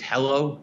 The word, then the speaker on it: HELO: I would pronounce it as hello, just take out one of the L's that's there.